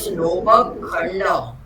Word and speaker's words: लोपखण्ड: Advait, it is Lopakhanda.